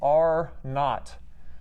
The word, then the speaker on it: R naught: factor that we call the r naught and that's pronounced n-a-u-g-h-t which for those of